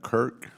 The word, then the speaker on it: CURC: as the associate director do we pronounce that kirk curc okay she is a member